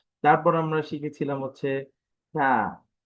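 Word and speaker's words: ثاء: তারপর আমরা শিখেছিলাম হচ্ছে থা, থা। থা উচ্চারণের ক্ষেত্রে আমাদের উচ্চারণের পদ্ধতি ছিল জিহ্বার আগা, দাঁতের আগা, নরম আওয়াজ, কম টান। এই জিহ্বার আগা, দাঁতের আগা, নরম আওয়াজ হবে আর কম টান হবে।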